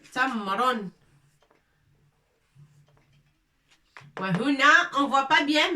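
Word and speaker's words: تمر: Ta avec noqtatain. Fatha. Mim avec soukoun pour dire m. Tamron.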